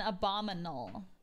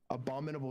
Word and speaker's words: abominable: Abdominal and abdominal and abominal. There you go. Abominal sounds not like a real word though. Abominable snowman. It's abominable. It's abominable.